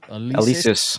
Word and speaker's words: Alesis: Is that an how do you pronounce it? Alesis? Alesis.